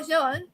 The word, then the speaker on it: Jung: Anyway, psychologist Carl Jung, J is silent, I think.